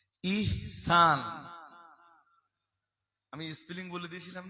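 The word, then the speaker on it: ইহসান: এহসান কি? জোরে বলুন। ইনসান না নট ইনসান। ইহনসান।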